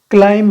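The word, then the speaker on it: climb: क्लाइम है, क्लाइम में B silent है, क्लाइम मतलब होता है चढ़ना, ठीक है।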